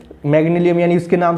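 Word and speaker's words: Magnalium: ये थोड़ा सा इसका प्रोनाउंसिएशन थोड़ा सा डिफिकल्ट है, कौन सा है, मैंगलियम क्या है भैया, देखो इसमें ये क्या है, EMG और AL, मैंगल, हाँ कितना सिंपल यार, EMG और AL, मैग्नीलियम, ठीक है।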